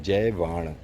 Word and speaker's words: जयवाण: और इसका like the correct pronunciation of इट इज़ जयवाण। तो जयवन नहीं है, जयवाण है, हिंदी में लिखा है। वाण समझते हो ना आप, वाण तीर का वाण बोलते हैं।